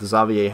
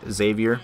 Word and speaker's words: Xavier: game that I actually did pretty well with zavier Henry and yes his name is pronounced zavier not Xavier because I used to call him Xavier Henry